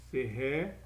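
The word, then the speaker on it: serai: Até dei uma dica aqui, mas fica a dica, no futuro é serré, não se pode pronunciar muito forte, ele quase some, né? O som fica tipo de serré, isso aí vocês já sabem, né?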